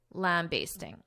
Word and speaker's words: lambasting: The one I use, basting, lambasting, is the more common, but you may also hear in American pronunciation basting, lambasting, lambasting, lambasting.